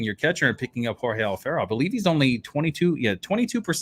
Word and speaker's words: Alfaro: So Jorge Alfaro, apparently, let me go ahead and say it right. Jorge Alfaro. So that's how you say it. It's in Spanish.